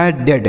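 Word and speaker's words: head: डी से डॉ लिखा है डेड।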